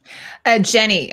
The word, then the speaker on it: Jany: And it's pronounced Jamie? Jenny is how Jenny? I've seen it. So Jany Temime. Jany Temime. So Jamie is Jenny.